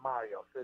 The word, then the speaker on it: Marios: Basically, normally you have an S on Mario. So it's Marios Frangoulis, and that's the Greek way of saying it.